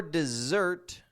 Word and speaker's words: dessert: Comes after the appetizer and just before dessert, which we spell with 2 S's, and you pronounce those S's as Z's or Z's, however you like to pronounce that word.